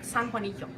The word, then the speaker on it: San Juanillo: And then I figured out that it's San Juanillo. Very different, San Juanillo.